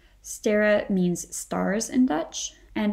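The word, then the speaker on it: Sterre: somebody so yeah and if they see the spelling with an e they may pronounce it incorrectly um stira or something like this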